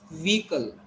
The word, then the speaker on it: vehicle: All you people try to understand that we call it vehicle because we go to spelling. Try to understand when we pronounce words, we go to spelling. Here e, so way. Here hi, he. Then cle means cull. So vehicle, but it is not vehicle. It is vehicle.